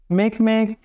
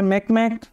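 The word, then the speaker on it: Makemake: প্রথমত দেখো প্লুটো, তারপরে ইরিস, হমিয়া, তারপরে মেকমেক, তারপরে হচ্ছে সেরেস। মেকমেকটা অনেকটা হাঁসের উচ্চারণের মতো, সেজন্য মনে রাখার সুবিধা।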